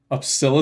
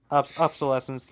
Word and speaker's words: obsolescence: me I miss obsolesence that that was obsolescence obsil obses obses that's like how British people pronounce aluminum aluminium you're just like obsil aant it's obsolescent obsolescence yeah he he was a good writer General